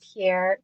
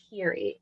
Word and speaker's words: Pierre: name Pierre you have a street called pier and apparently they call it Peri in Windsor yeah Peri it's just oh my gosh I don't know if it's just like residual are you guys we don't know how to and it's funny because there's such a strong French population here but people will say it with their chest it's not Pierre it's Peri it's not wette it's